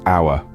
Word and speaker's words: hour: Take the word hour, for instance. The hour is a triphthong, combining A, U, and R.